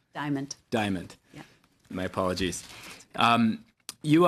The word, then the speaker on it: Diamant: My first question is for Ms., and I missed the pronunciation of your last name, Dimal? Diamond.